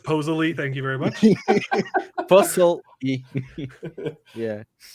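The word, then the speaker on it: pozole: um we had some posole it was really good yeah it's pronounced posily thank you very much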